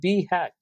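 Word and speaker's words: BHAG: as be Haqq right so we pronounce it as B hack where B stands for big hairy audacious goals right so the goals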